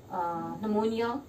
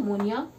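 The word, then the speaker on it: pneumonia: उसी बेसिस पे bacterial disease के नाम diphtheria, whooping cough, leprosy, syphilis, tetanus, typhoid, plague, नमोनिया, P silent रहता है नमोनिया, tuberculosis, cholera and anthrax,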